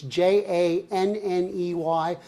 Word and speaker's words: Janney: So Janney, like John said, it rhymes with Annie. It's Janney.